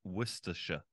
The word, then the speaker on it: Worcestershire: not how you say it so we say Worcestershire oh Worcestershire Worcestershire so the sauce you call Worcestershire Worcestershire sauce Worcestershire Worcestershire I I swear in North America we call it Worcestershire or something like that because this is a